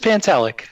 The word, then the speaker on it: Pantelic: How do you say your last name? Pantel. Just Pantelic. Just Pant. Pantellic. You see? Yeah. Ah, see you were close.